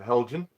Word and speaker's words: Heljan: So it's a Heljan. That's how I pronounce it. Some pronounce it Heljan or Helgan or some funny names, but I pronounce it Heljan.